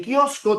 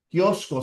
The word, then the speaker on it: kiosco: En kiosco tienes una Q y una C, pero ambos tienen el mismo sonido. La transcripción sería así, ¿no? Kiosco, siempre hay que colocarle fuerza de voz.